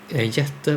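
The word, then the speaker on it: jätte: Jette, by the way. I mean, I not know that they wrote it out differently. But that is how you pronounce giant in well, and in at least Swedish.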